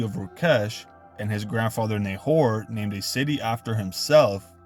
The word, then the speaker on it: Nahor: Essentially, Nagar could easily be translated as Nakar, and this is very close to the proper pronunciation of Nahor, which is Nakor.